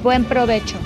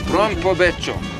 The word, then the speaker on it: buen provecho: Buen provecho. Buen provecho.